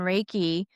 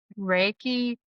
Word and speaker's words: Reiki: Reiki consists of two syllables. So there's Rei and Ki.